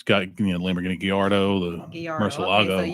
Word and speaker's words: Gallardo: I don't know what they're called, like a Gerardo or something. Well, I mean, it's got Lamborghini Gallardo, the Gallardo.